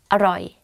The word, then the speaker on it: อร่อย: So, อ ร่ อ ย อ ร่ อ ย อ ร่ อ ย And you say it faster, aroi. But don't confuse this word to what, which is arai.